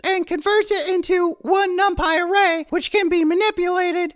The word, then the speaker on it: NumPy: It's pronounced NumPy, not NumPy.